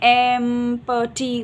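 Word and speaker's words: empty: कुछ-कुछ बच्चे को साउंड आता है या वो एक-एक जैसे एम प टी बोल सकते हैं। तो एम्प्टी हो जाता है। पी लेटर साइलेंट है।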